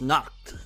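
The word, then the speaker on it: Nacht: telling me it is basically the past tense of knock knock that's how you pronounce knocked his name which it's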